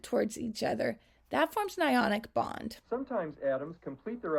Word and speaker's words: anion: Positively charged ions are called cations, and negatively charged ions are called anions. Those words are pronounced a little bit differently from how they look like they would be. A cation and an anion.